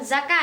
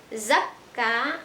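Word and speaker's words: زَكَّى: Nah, karena sudah menjadi sulasi mazid, maka zakka, bukan zaka ya, zakka akan dibaca imalah.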